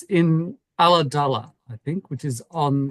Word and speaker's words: Ulladulla: It's exactly as it sounds. Yep. Ulladulla. Okay, Ulladulla.